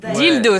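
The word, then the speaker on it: Dealdo: Dildo. Dildo, ça s'écrit D-E-A-L-D-O, mais ça se prononce comme vous aurez compris la référence.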